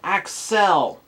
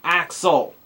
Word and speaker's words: Accel: Pronounced Accel, not Axel.